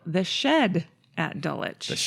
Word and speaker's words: Dulwich: We're going to talk about a restaurant in London in Dulich. Dulich, which is spelled Dwitch.